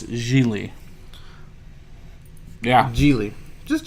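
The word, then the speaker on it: Gigli: apparently I was saying giggly oh who are you were because it's about GI GLI and that's giggly but it's G Lee yeah Geely just G Lee so the other G is silent G Lee then you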